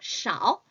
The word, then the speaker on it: 少: 작다는 small, 小 꼭 이렇게 읽어주셔야 돼요. 적다는요 少多少大小 이렇게 읽어주셔야 합니다.